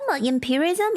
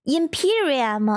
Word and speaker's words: Imperium: How to pronounce How to pronounce imperial? I feel like I'm saying it wrong. Imperialism. Imperism. Is that how you say it? Imperium. Imperium.